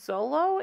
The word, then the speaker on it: Xolo: played by an actor first name xolo i think it's zolo is how you pronounce that but what's interesting